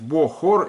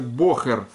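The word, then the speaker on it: בחור: Вы можете прочитать на еврейский манер, как вот это как о воспринять, бохор или бохур, короче. Но в идиш считается как бохер.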